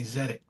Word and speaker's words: Tzedek: And you know, I say, "Take the T off and then say Zedic."